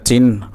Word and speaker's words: চিহ্ন: অন্য যত্ন রত্ন রান্না ভিন্ন স্বপ্ন স্নেহ বিঘ্ন মগ্ন চিহ্ন সরি এটা চিহ্ন হালকা চিহ্ন চিহ্ন একদম চিহ্ন হবে না চিহ্ন এমন না চিহ্ন চিহ্ন হালকা হর উচ্চারণ হবে তারপরে রুগ্ন আসন্ন প্রসন্ন